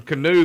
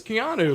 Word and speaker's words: Keanu: And and Woody is calling him canoe the whole first game and and they're trying to tell us how to say his name. And then I figure out later I'm like, "Oh, it's Keanu." Like Ker Reeves.